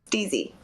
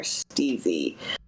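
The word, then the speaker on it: STIIIZY: California's biggest weed brand steezy and that is how you pronounce it the three eyes are steezy uh C is probably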